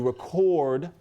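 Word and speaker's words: record: You re-CORD a RE-cord.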